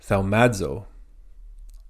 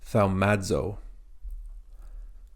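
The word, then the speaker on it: θαυμάζω: Similar to the English word audible, the A and the U at the beginning of audible are pronounced together. Same with here, thaumazo.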